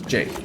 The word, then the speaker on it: Jai: Jai. It's Jay. I keep saying it wrong. I'm probably gonna keep saying it wrong. It's just, to me, that reads Jai.